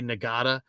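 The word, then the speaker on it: Ngata: from Sacramento Joseph NADA it's spelled n-g-a-t-a nagada played it at uh Clemson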